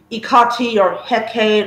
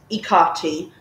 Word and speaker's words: Hecate: But what really, really steamed me off was a lot of Hellenists' views about Ikati or Hecate or Hecate. You know, there's at least, I think, like seven different pronunciations for one goddess.